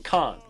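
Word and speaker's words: כן: why he keeps saying Khan, that's how they pronounce the Hebrew term for yes.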